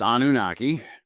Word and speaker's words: Anunnaki: And what are the Anunnaki, maybe? Okay, it's pronounced Anunnaki.